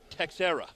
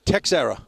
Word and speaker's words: Teixeira: But Paul Teixeira, his name is really Texera. Texera. Yes, and Paul. You got to pronounce the X.